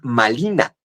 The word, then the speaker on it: Malina: Entonces, a la mujer que los españoles le llaman marina, los hablantes del nawuatel dicen malina porque no pueden pronunciar la r, le dicen malina.